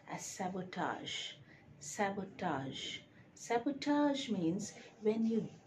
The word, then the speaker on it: sabotage: number two is s-a-b-o-t-a-g-e is it sabotage a sabotage no it is correctly pronounced as sabotage sabotage sabotage means when you deliberately destroy or